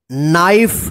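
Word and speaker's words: knife: चलिए आगे देखते हैं नाइफ देखि के एन आई एफ ई नाइफ इसको कना मत पढ़िए के यहां पर साइलेंट है जब हम साइलेंट लेटर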